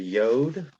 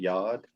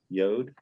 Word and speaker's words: Yod: next one is a yod some people pronounce it yad yod and it just looks